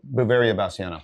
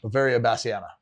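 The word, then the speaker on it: Beauveria bassiana: Oh, Bavaria basana. Bavaria basana.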